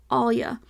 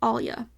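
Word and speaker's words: allyuh: Caribbean but anyways Creole they say Alia which is spelled a l l y u h Alia which I think I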